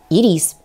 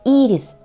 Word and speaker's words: Ирис: получил от древнегреческого слова Ирис Что означает Радуга или посланик богов правильное произношение с ударением на первый слог Ирис а не ирис